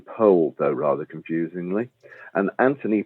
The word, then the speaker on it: Powell: He would have pronounced his name Powell, though rather confusingly.